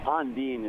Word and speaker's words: Ondine: You were kind of a house band at is it Ondine? Is that right? Ondine is the pronunciation, but you're right.